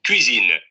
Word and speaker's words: cuisine: Si ustedes pronuncian bien la palatal, la de ya, solamente hay que redondear los labios.